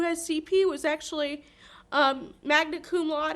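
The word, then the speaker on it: magna cum laude: CP was actually um magnet Kum L is I think how you say it so he was very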